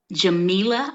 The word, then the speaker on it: Jamilah: people to look for what's that stays neck jameelah Ayanna okay a little different than what I